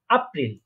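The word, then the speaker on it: April: হ্যাঁ, এপ্রিলকে আমরা কি বলবো? জার্মানে বলবো আপ্রিল, কারণ আমরা জানি এটাকে আ উচ্চারণ হয়। এটাকে বলবো আপ্রিল।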